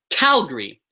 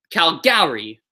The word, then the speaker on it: Calgary: My city is called Calgary, so the cal is the loudest part of the word. I would never ever say Calgary. I would never say Calgary. It just sounds stupid. It sounds silly.